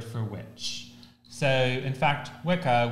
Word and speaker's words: Wicca: So, in fact, Wicca would be pronounced Wicha originally.